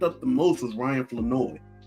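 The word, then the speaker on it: Flournoy: that I'm saying it, I used to say Florenoi. I saw the um I saw the the pronunciation sheet. I saw the media pronunciation sheet pronounci.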